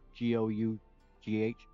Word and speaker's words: Gough: just talk about I believe her name is pronounced Denise Gough. Her last name is Gough.